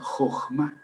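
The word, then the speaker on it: חכמה: más bien hay que ponerle la h después de la k para que no suene k, sino j. Y entonces sonaría igual jojma, sonaría igual e que si transliteramos con dos j.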